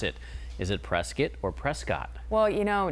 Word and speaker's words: Prescott: I've lived here now in the Valley 2 years, and now I know that I better say Prescott and not say Prescott.